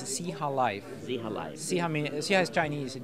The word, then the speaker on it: Xihalife: I guess it's, what's the correct way to pronounce it? It's Xihalife.